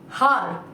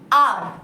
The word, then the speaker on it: hour: Here letter H is silent.